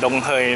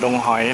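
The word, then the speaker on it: Đồng Hới: feelthai ใน YouTube ครับ นี่ อ่าน ว่า benza ดงเหย นะ ครับ ไม่ ใช่ เป็น แซด ดง หอย นะ ฮะ ก็ อยู่ เมืองดง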